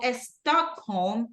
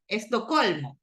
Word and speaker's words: Stockholm: So Stockholm is a city in Sweden, Estocolmo, right? But the right way to say it in English is Stockholm.